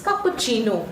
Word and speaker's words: cappuccino: Okay, it's cappuccino. You don't pronounce the U over here.